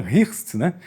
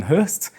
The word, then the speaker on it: Hirst: command of Major Ivan Hirst, we read Ivan Hirst, but the correct correct pronunciation is Ivan “Hurst” and he was the largely responsible for the rebirth of the Volkswagen after the Second War.